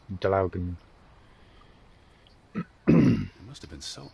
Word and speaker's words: Draugen: I'm pretty sure if you are Norwegian, that's how you pronounce it, as Draugen.